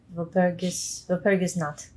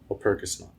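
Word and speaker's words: Walpurgisnacht: Oh, Woppersniet? That sounds right. I like that pronunciation. Oh, Walpurgis Nacht. Nacht. Mm-hmm. Walpurgis Nacht.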